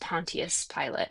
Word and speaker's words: Pontius Pilate: Um and so in Latin it would have been pronounced Pontius Pilate.